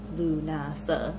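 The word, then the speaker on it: Lúnasa: In Ireland, they called Lammas the Feast of Lunasa, pronounced Lunasa, like I said.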